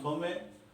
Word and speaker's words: Thomae: ये देखिए क्या फंक्शन है, this function is TX, T from थोमे, this is अब इसकी प्रोनाउंसिएशन देख लीजिएगा, हम तो इसको थोमे पढ़ते हैं, हो सकता है थोमायस, थॉमस, लाइक दिस इज थोमे।